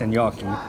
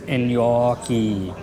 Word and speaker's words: gnocchi: similar to like undressed gnocchi. For all you out there, it's gnocchi. Gnocchi. That's how you say it.